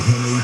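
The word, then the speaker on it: Henzry: Knowing a Henry spelled H-E-N-Z-R-Y, and the Z is silent. Okay, good.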